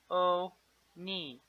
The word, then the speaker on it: Hermione: Hermione, she said slowly. Her Oni.